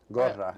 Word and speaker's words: Gorra: Gorra. It's Gorra. pronounced Gorra, but everybody says Gorra.